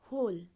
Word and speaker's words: whole: का दूसरा स्पेलिंग लिखेंगे, जो कि W से शुरू होता है। WHOLE, होल। इसको भी होल बोलेंगे, उसको भी होल बोलेंगे।